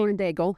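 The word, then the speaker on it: Lauren Daigle: I think it was is it Lauren Dagel? Is that how you say her name? Lauren Dagel. Yeah.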